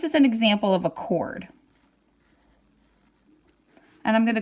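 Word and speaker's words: chord: it's felt like cord CH Ord but we pronounce it cord so I'm going to put a center point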